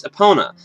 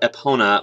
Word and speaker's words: Epona: I've always just said Epona, like, I pronounce it faster than that, but I guess I say Epona. The emphasis is different, but the sounds are the same, so I don't know